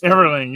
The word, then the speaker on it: Everling: I think I said Everling. Yes. Yeah. Yeah. It's got the ing. I'm not like the Everly brothers.